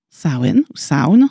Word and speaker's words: Samhain: dans une célébration païenne sen sound si on le prononce à l'anglaise qui signifie fin de